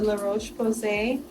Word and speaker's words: La Roche-Posay: I usually use this one, the La Roche-Posay.